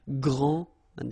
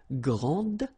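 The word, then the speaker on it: grande: So, gr and then same thing here. And regarding the feminine form, you will pronounce it grand. Okay? Okay, don't insist on the final but then pronounce this d and then exactly the same pronunciation grand.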